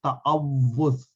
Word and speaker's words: تعوذ: ہے وہ صحیح ہو۔ تو اس کو یوں یاد کیجئے کہ اس کو پڑھنے کے لیے تا زبر تا آ، واو پہ چونکہ شد ہے اس پہ جزم ڈال لیں، تعو، پھر سے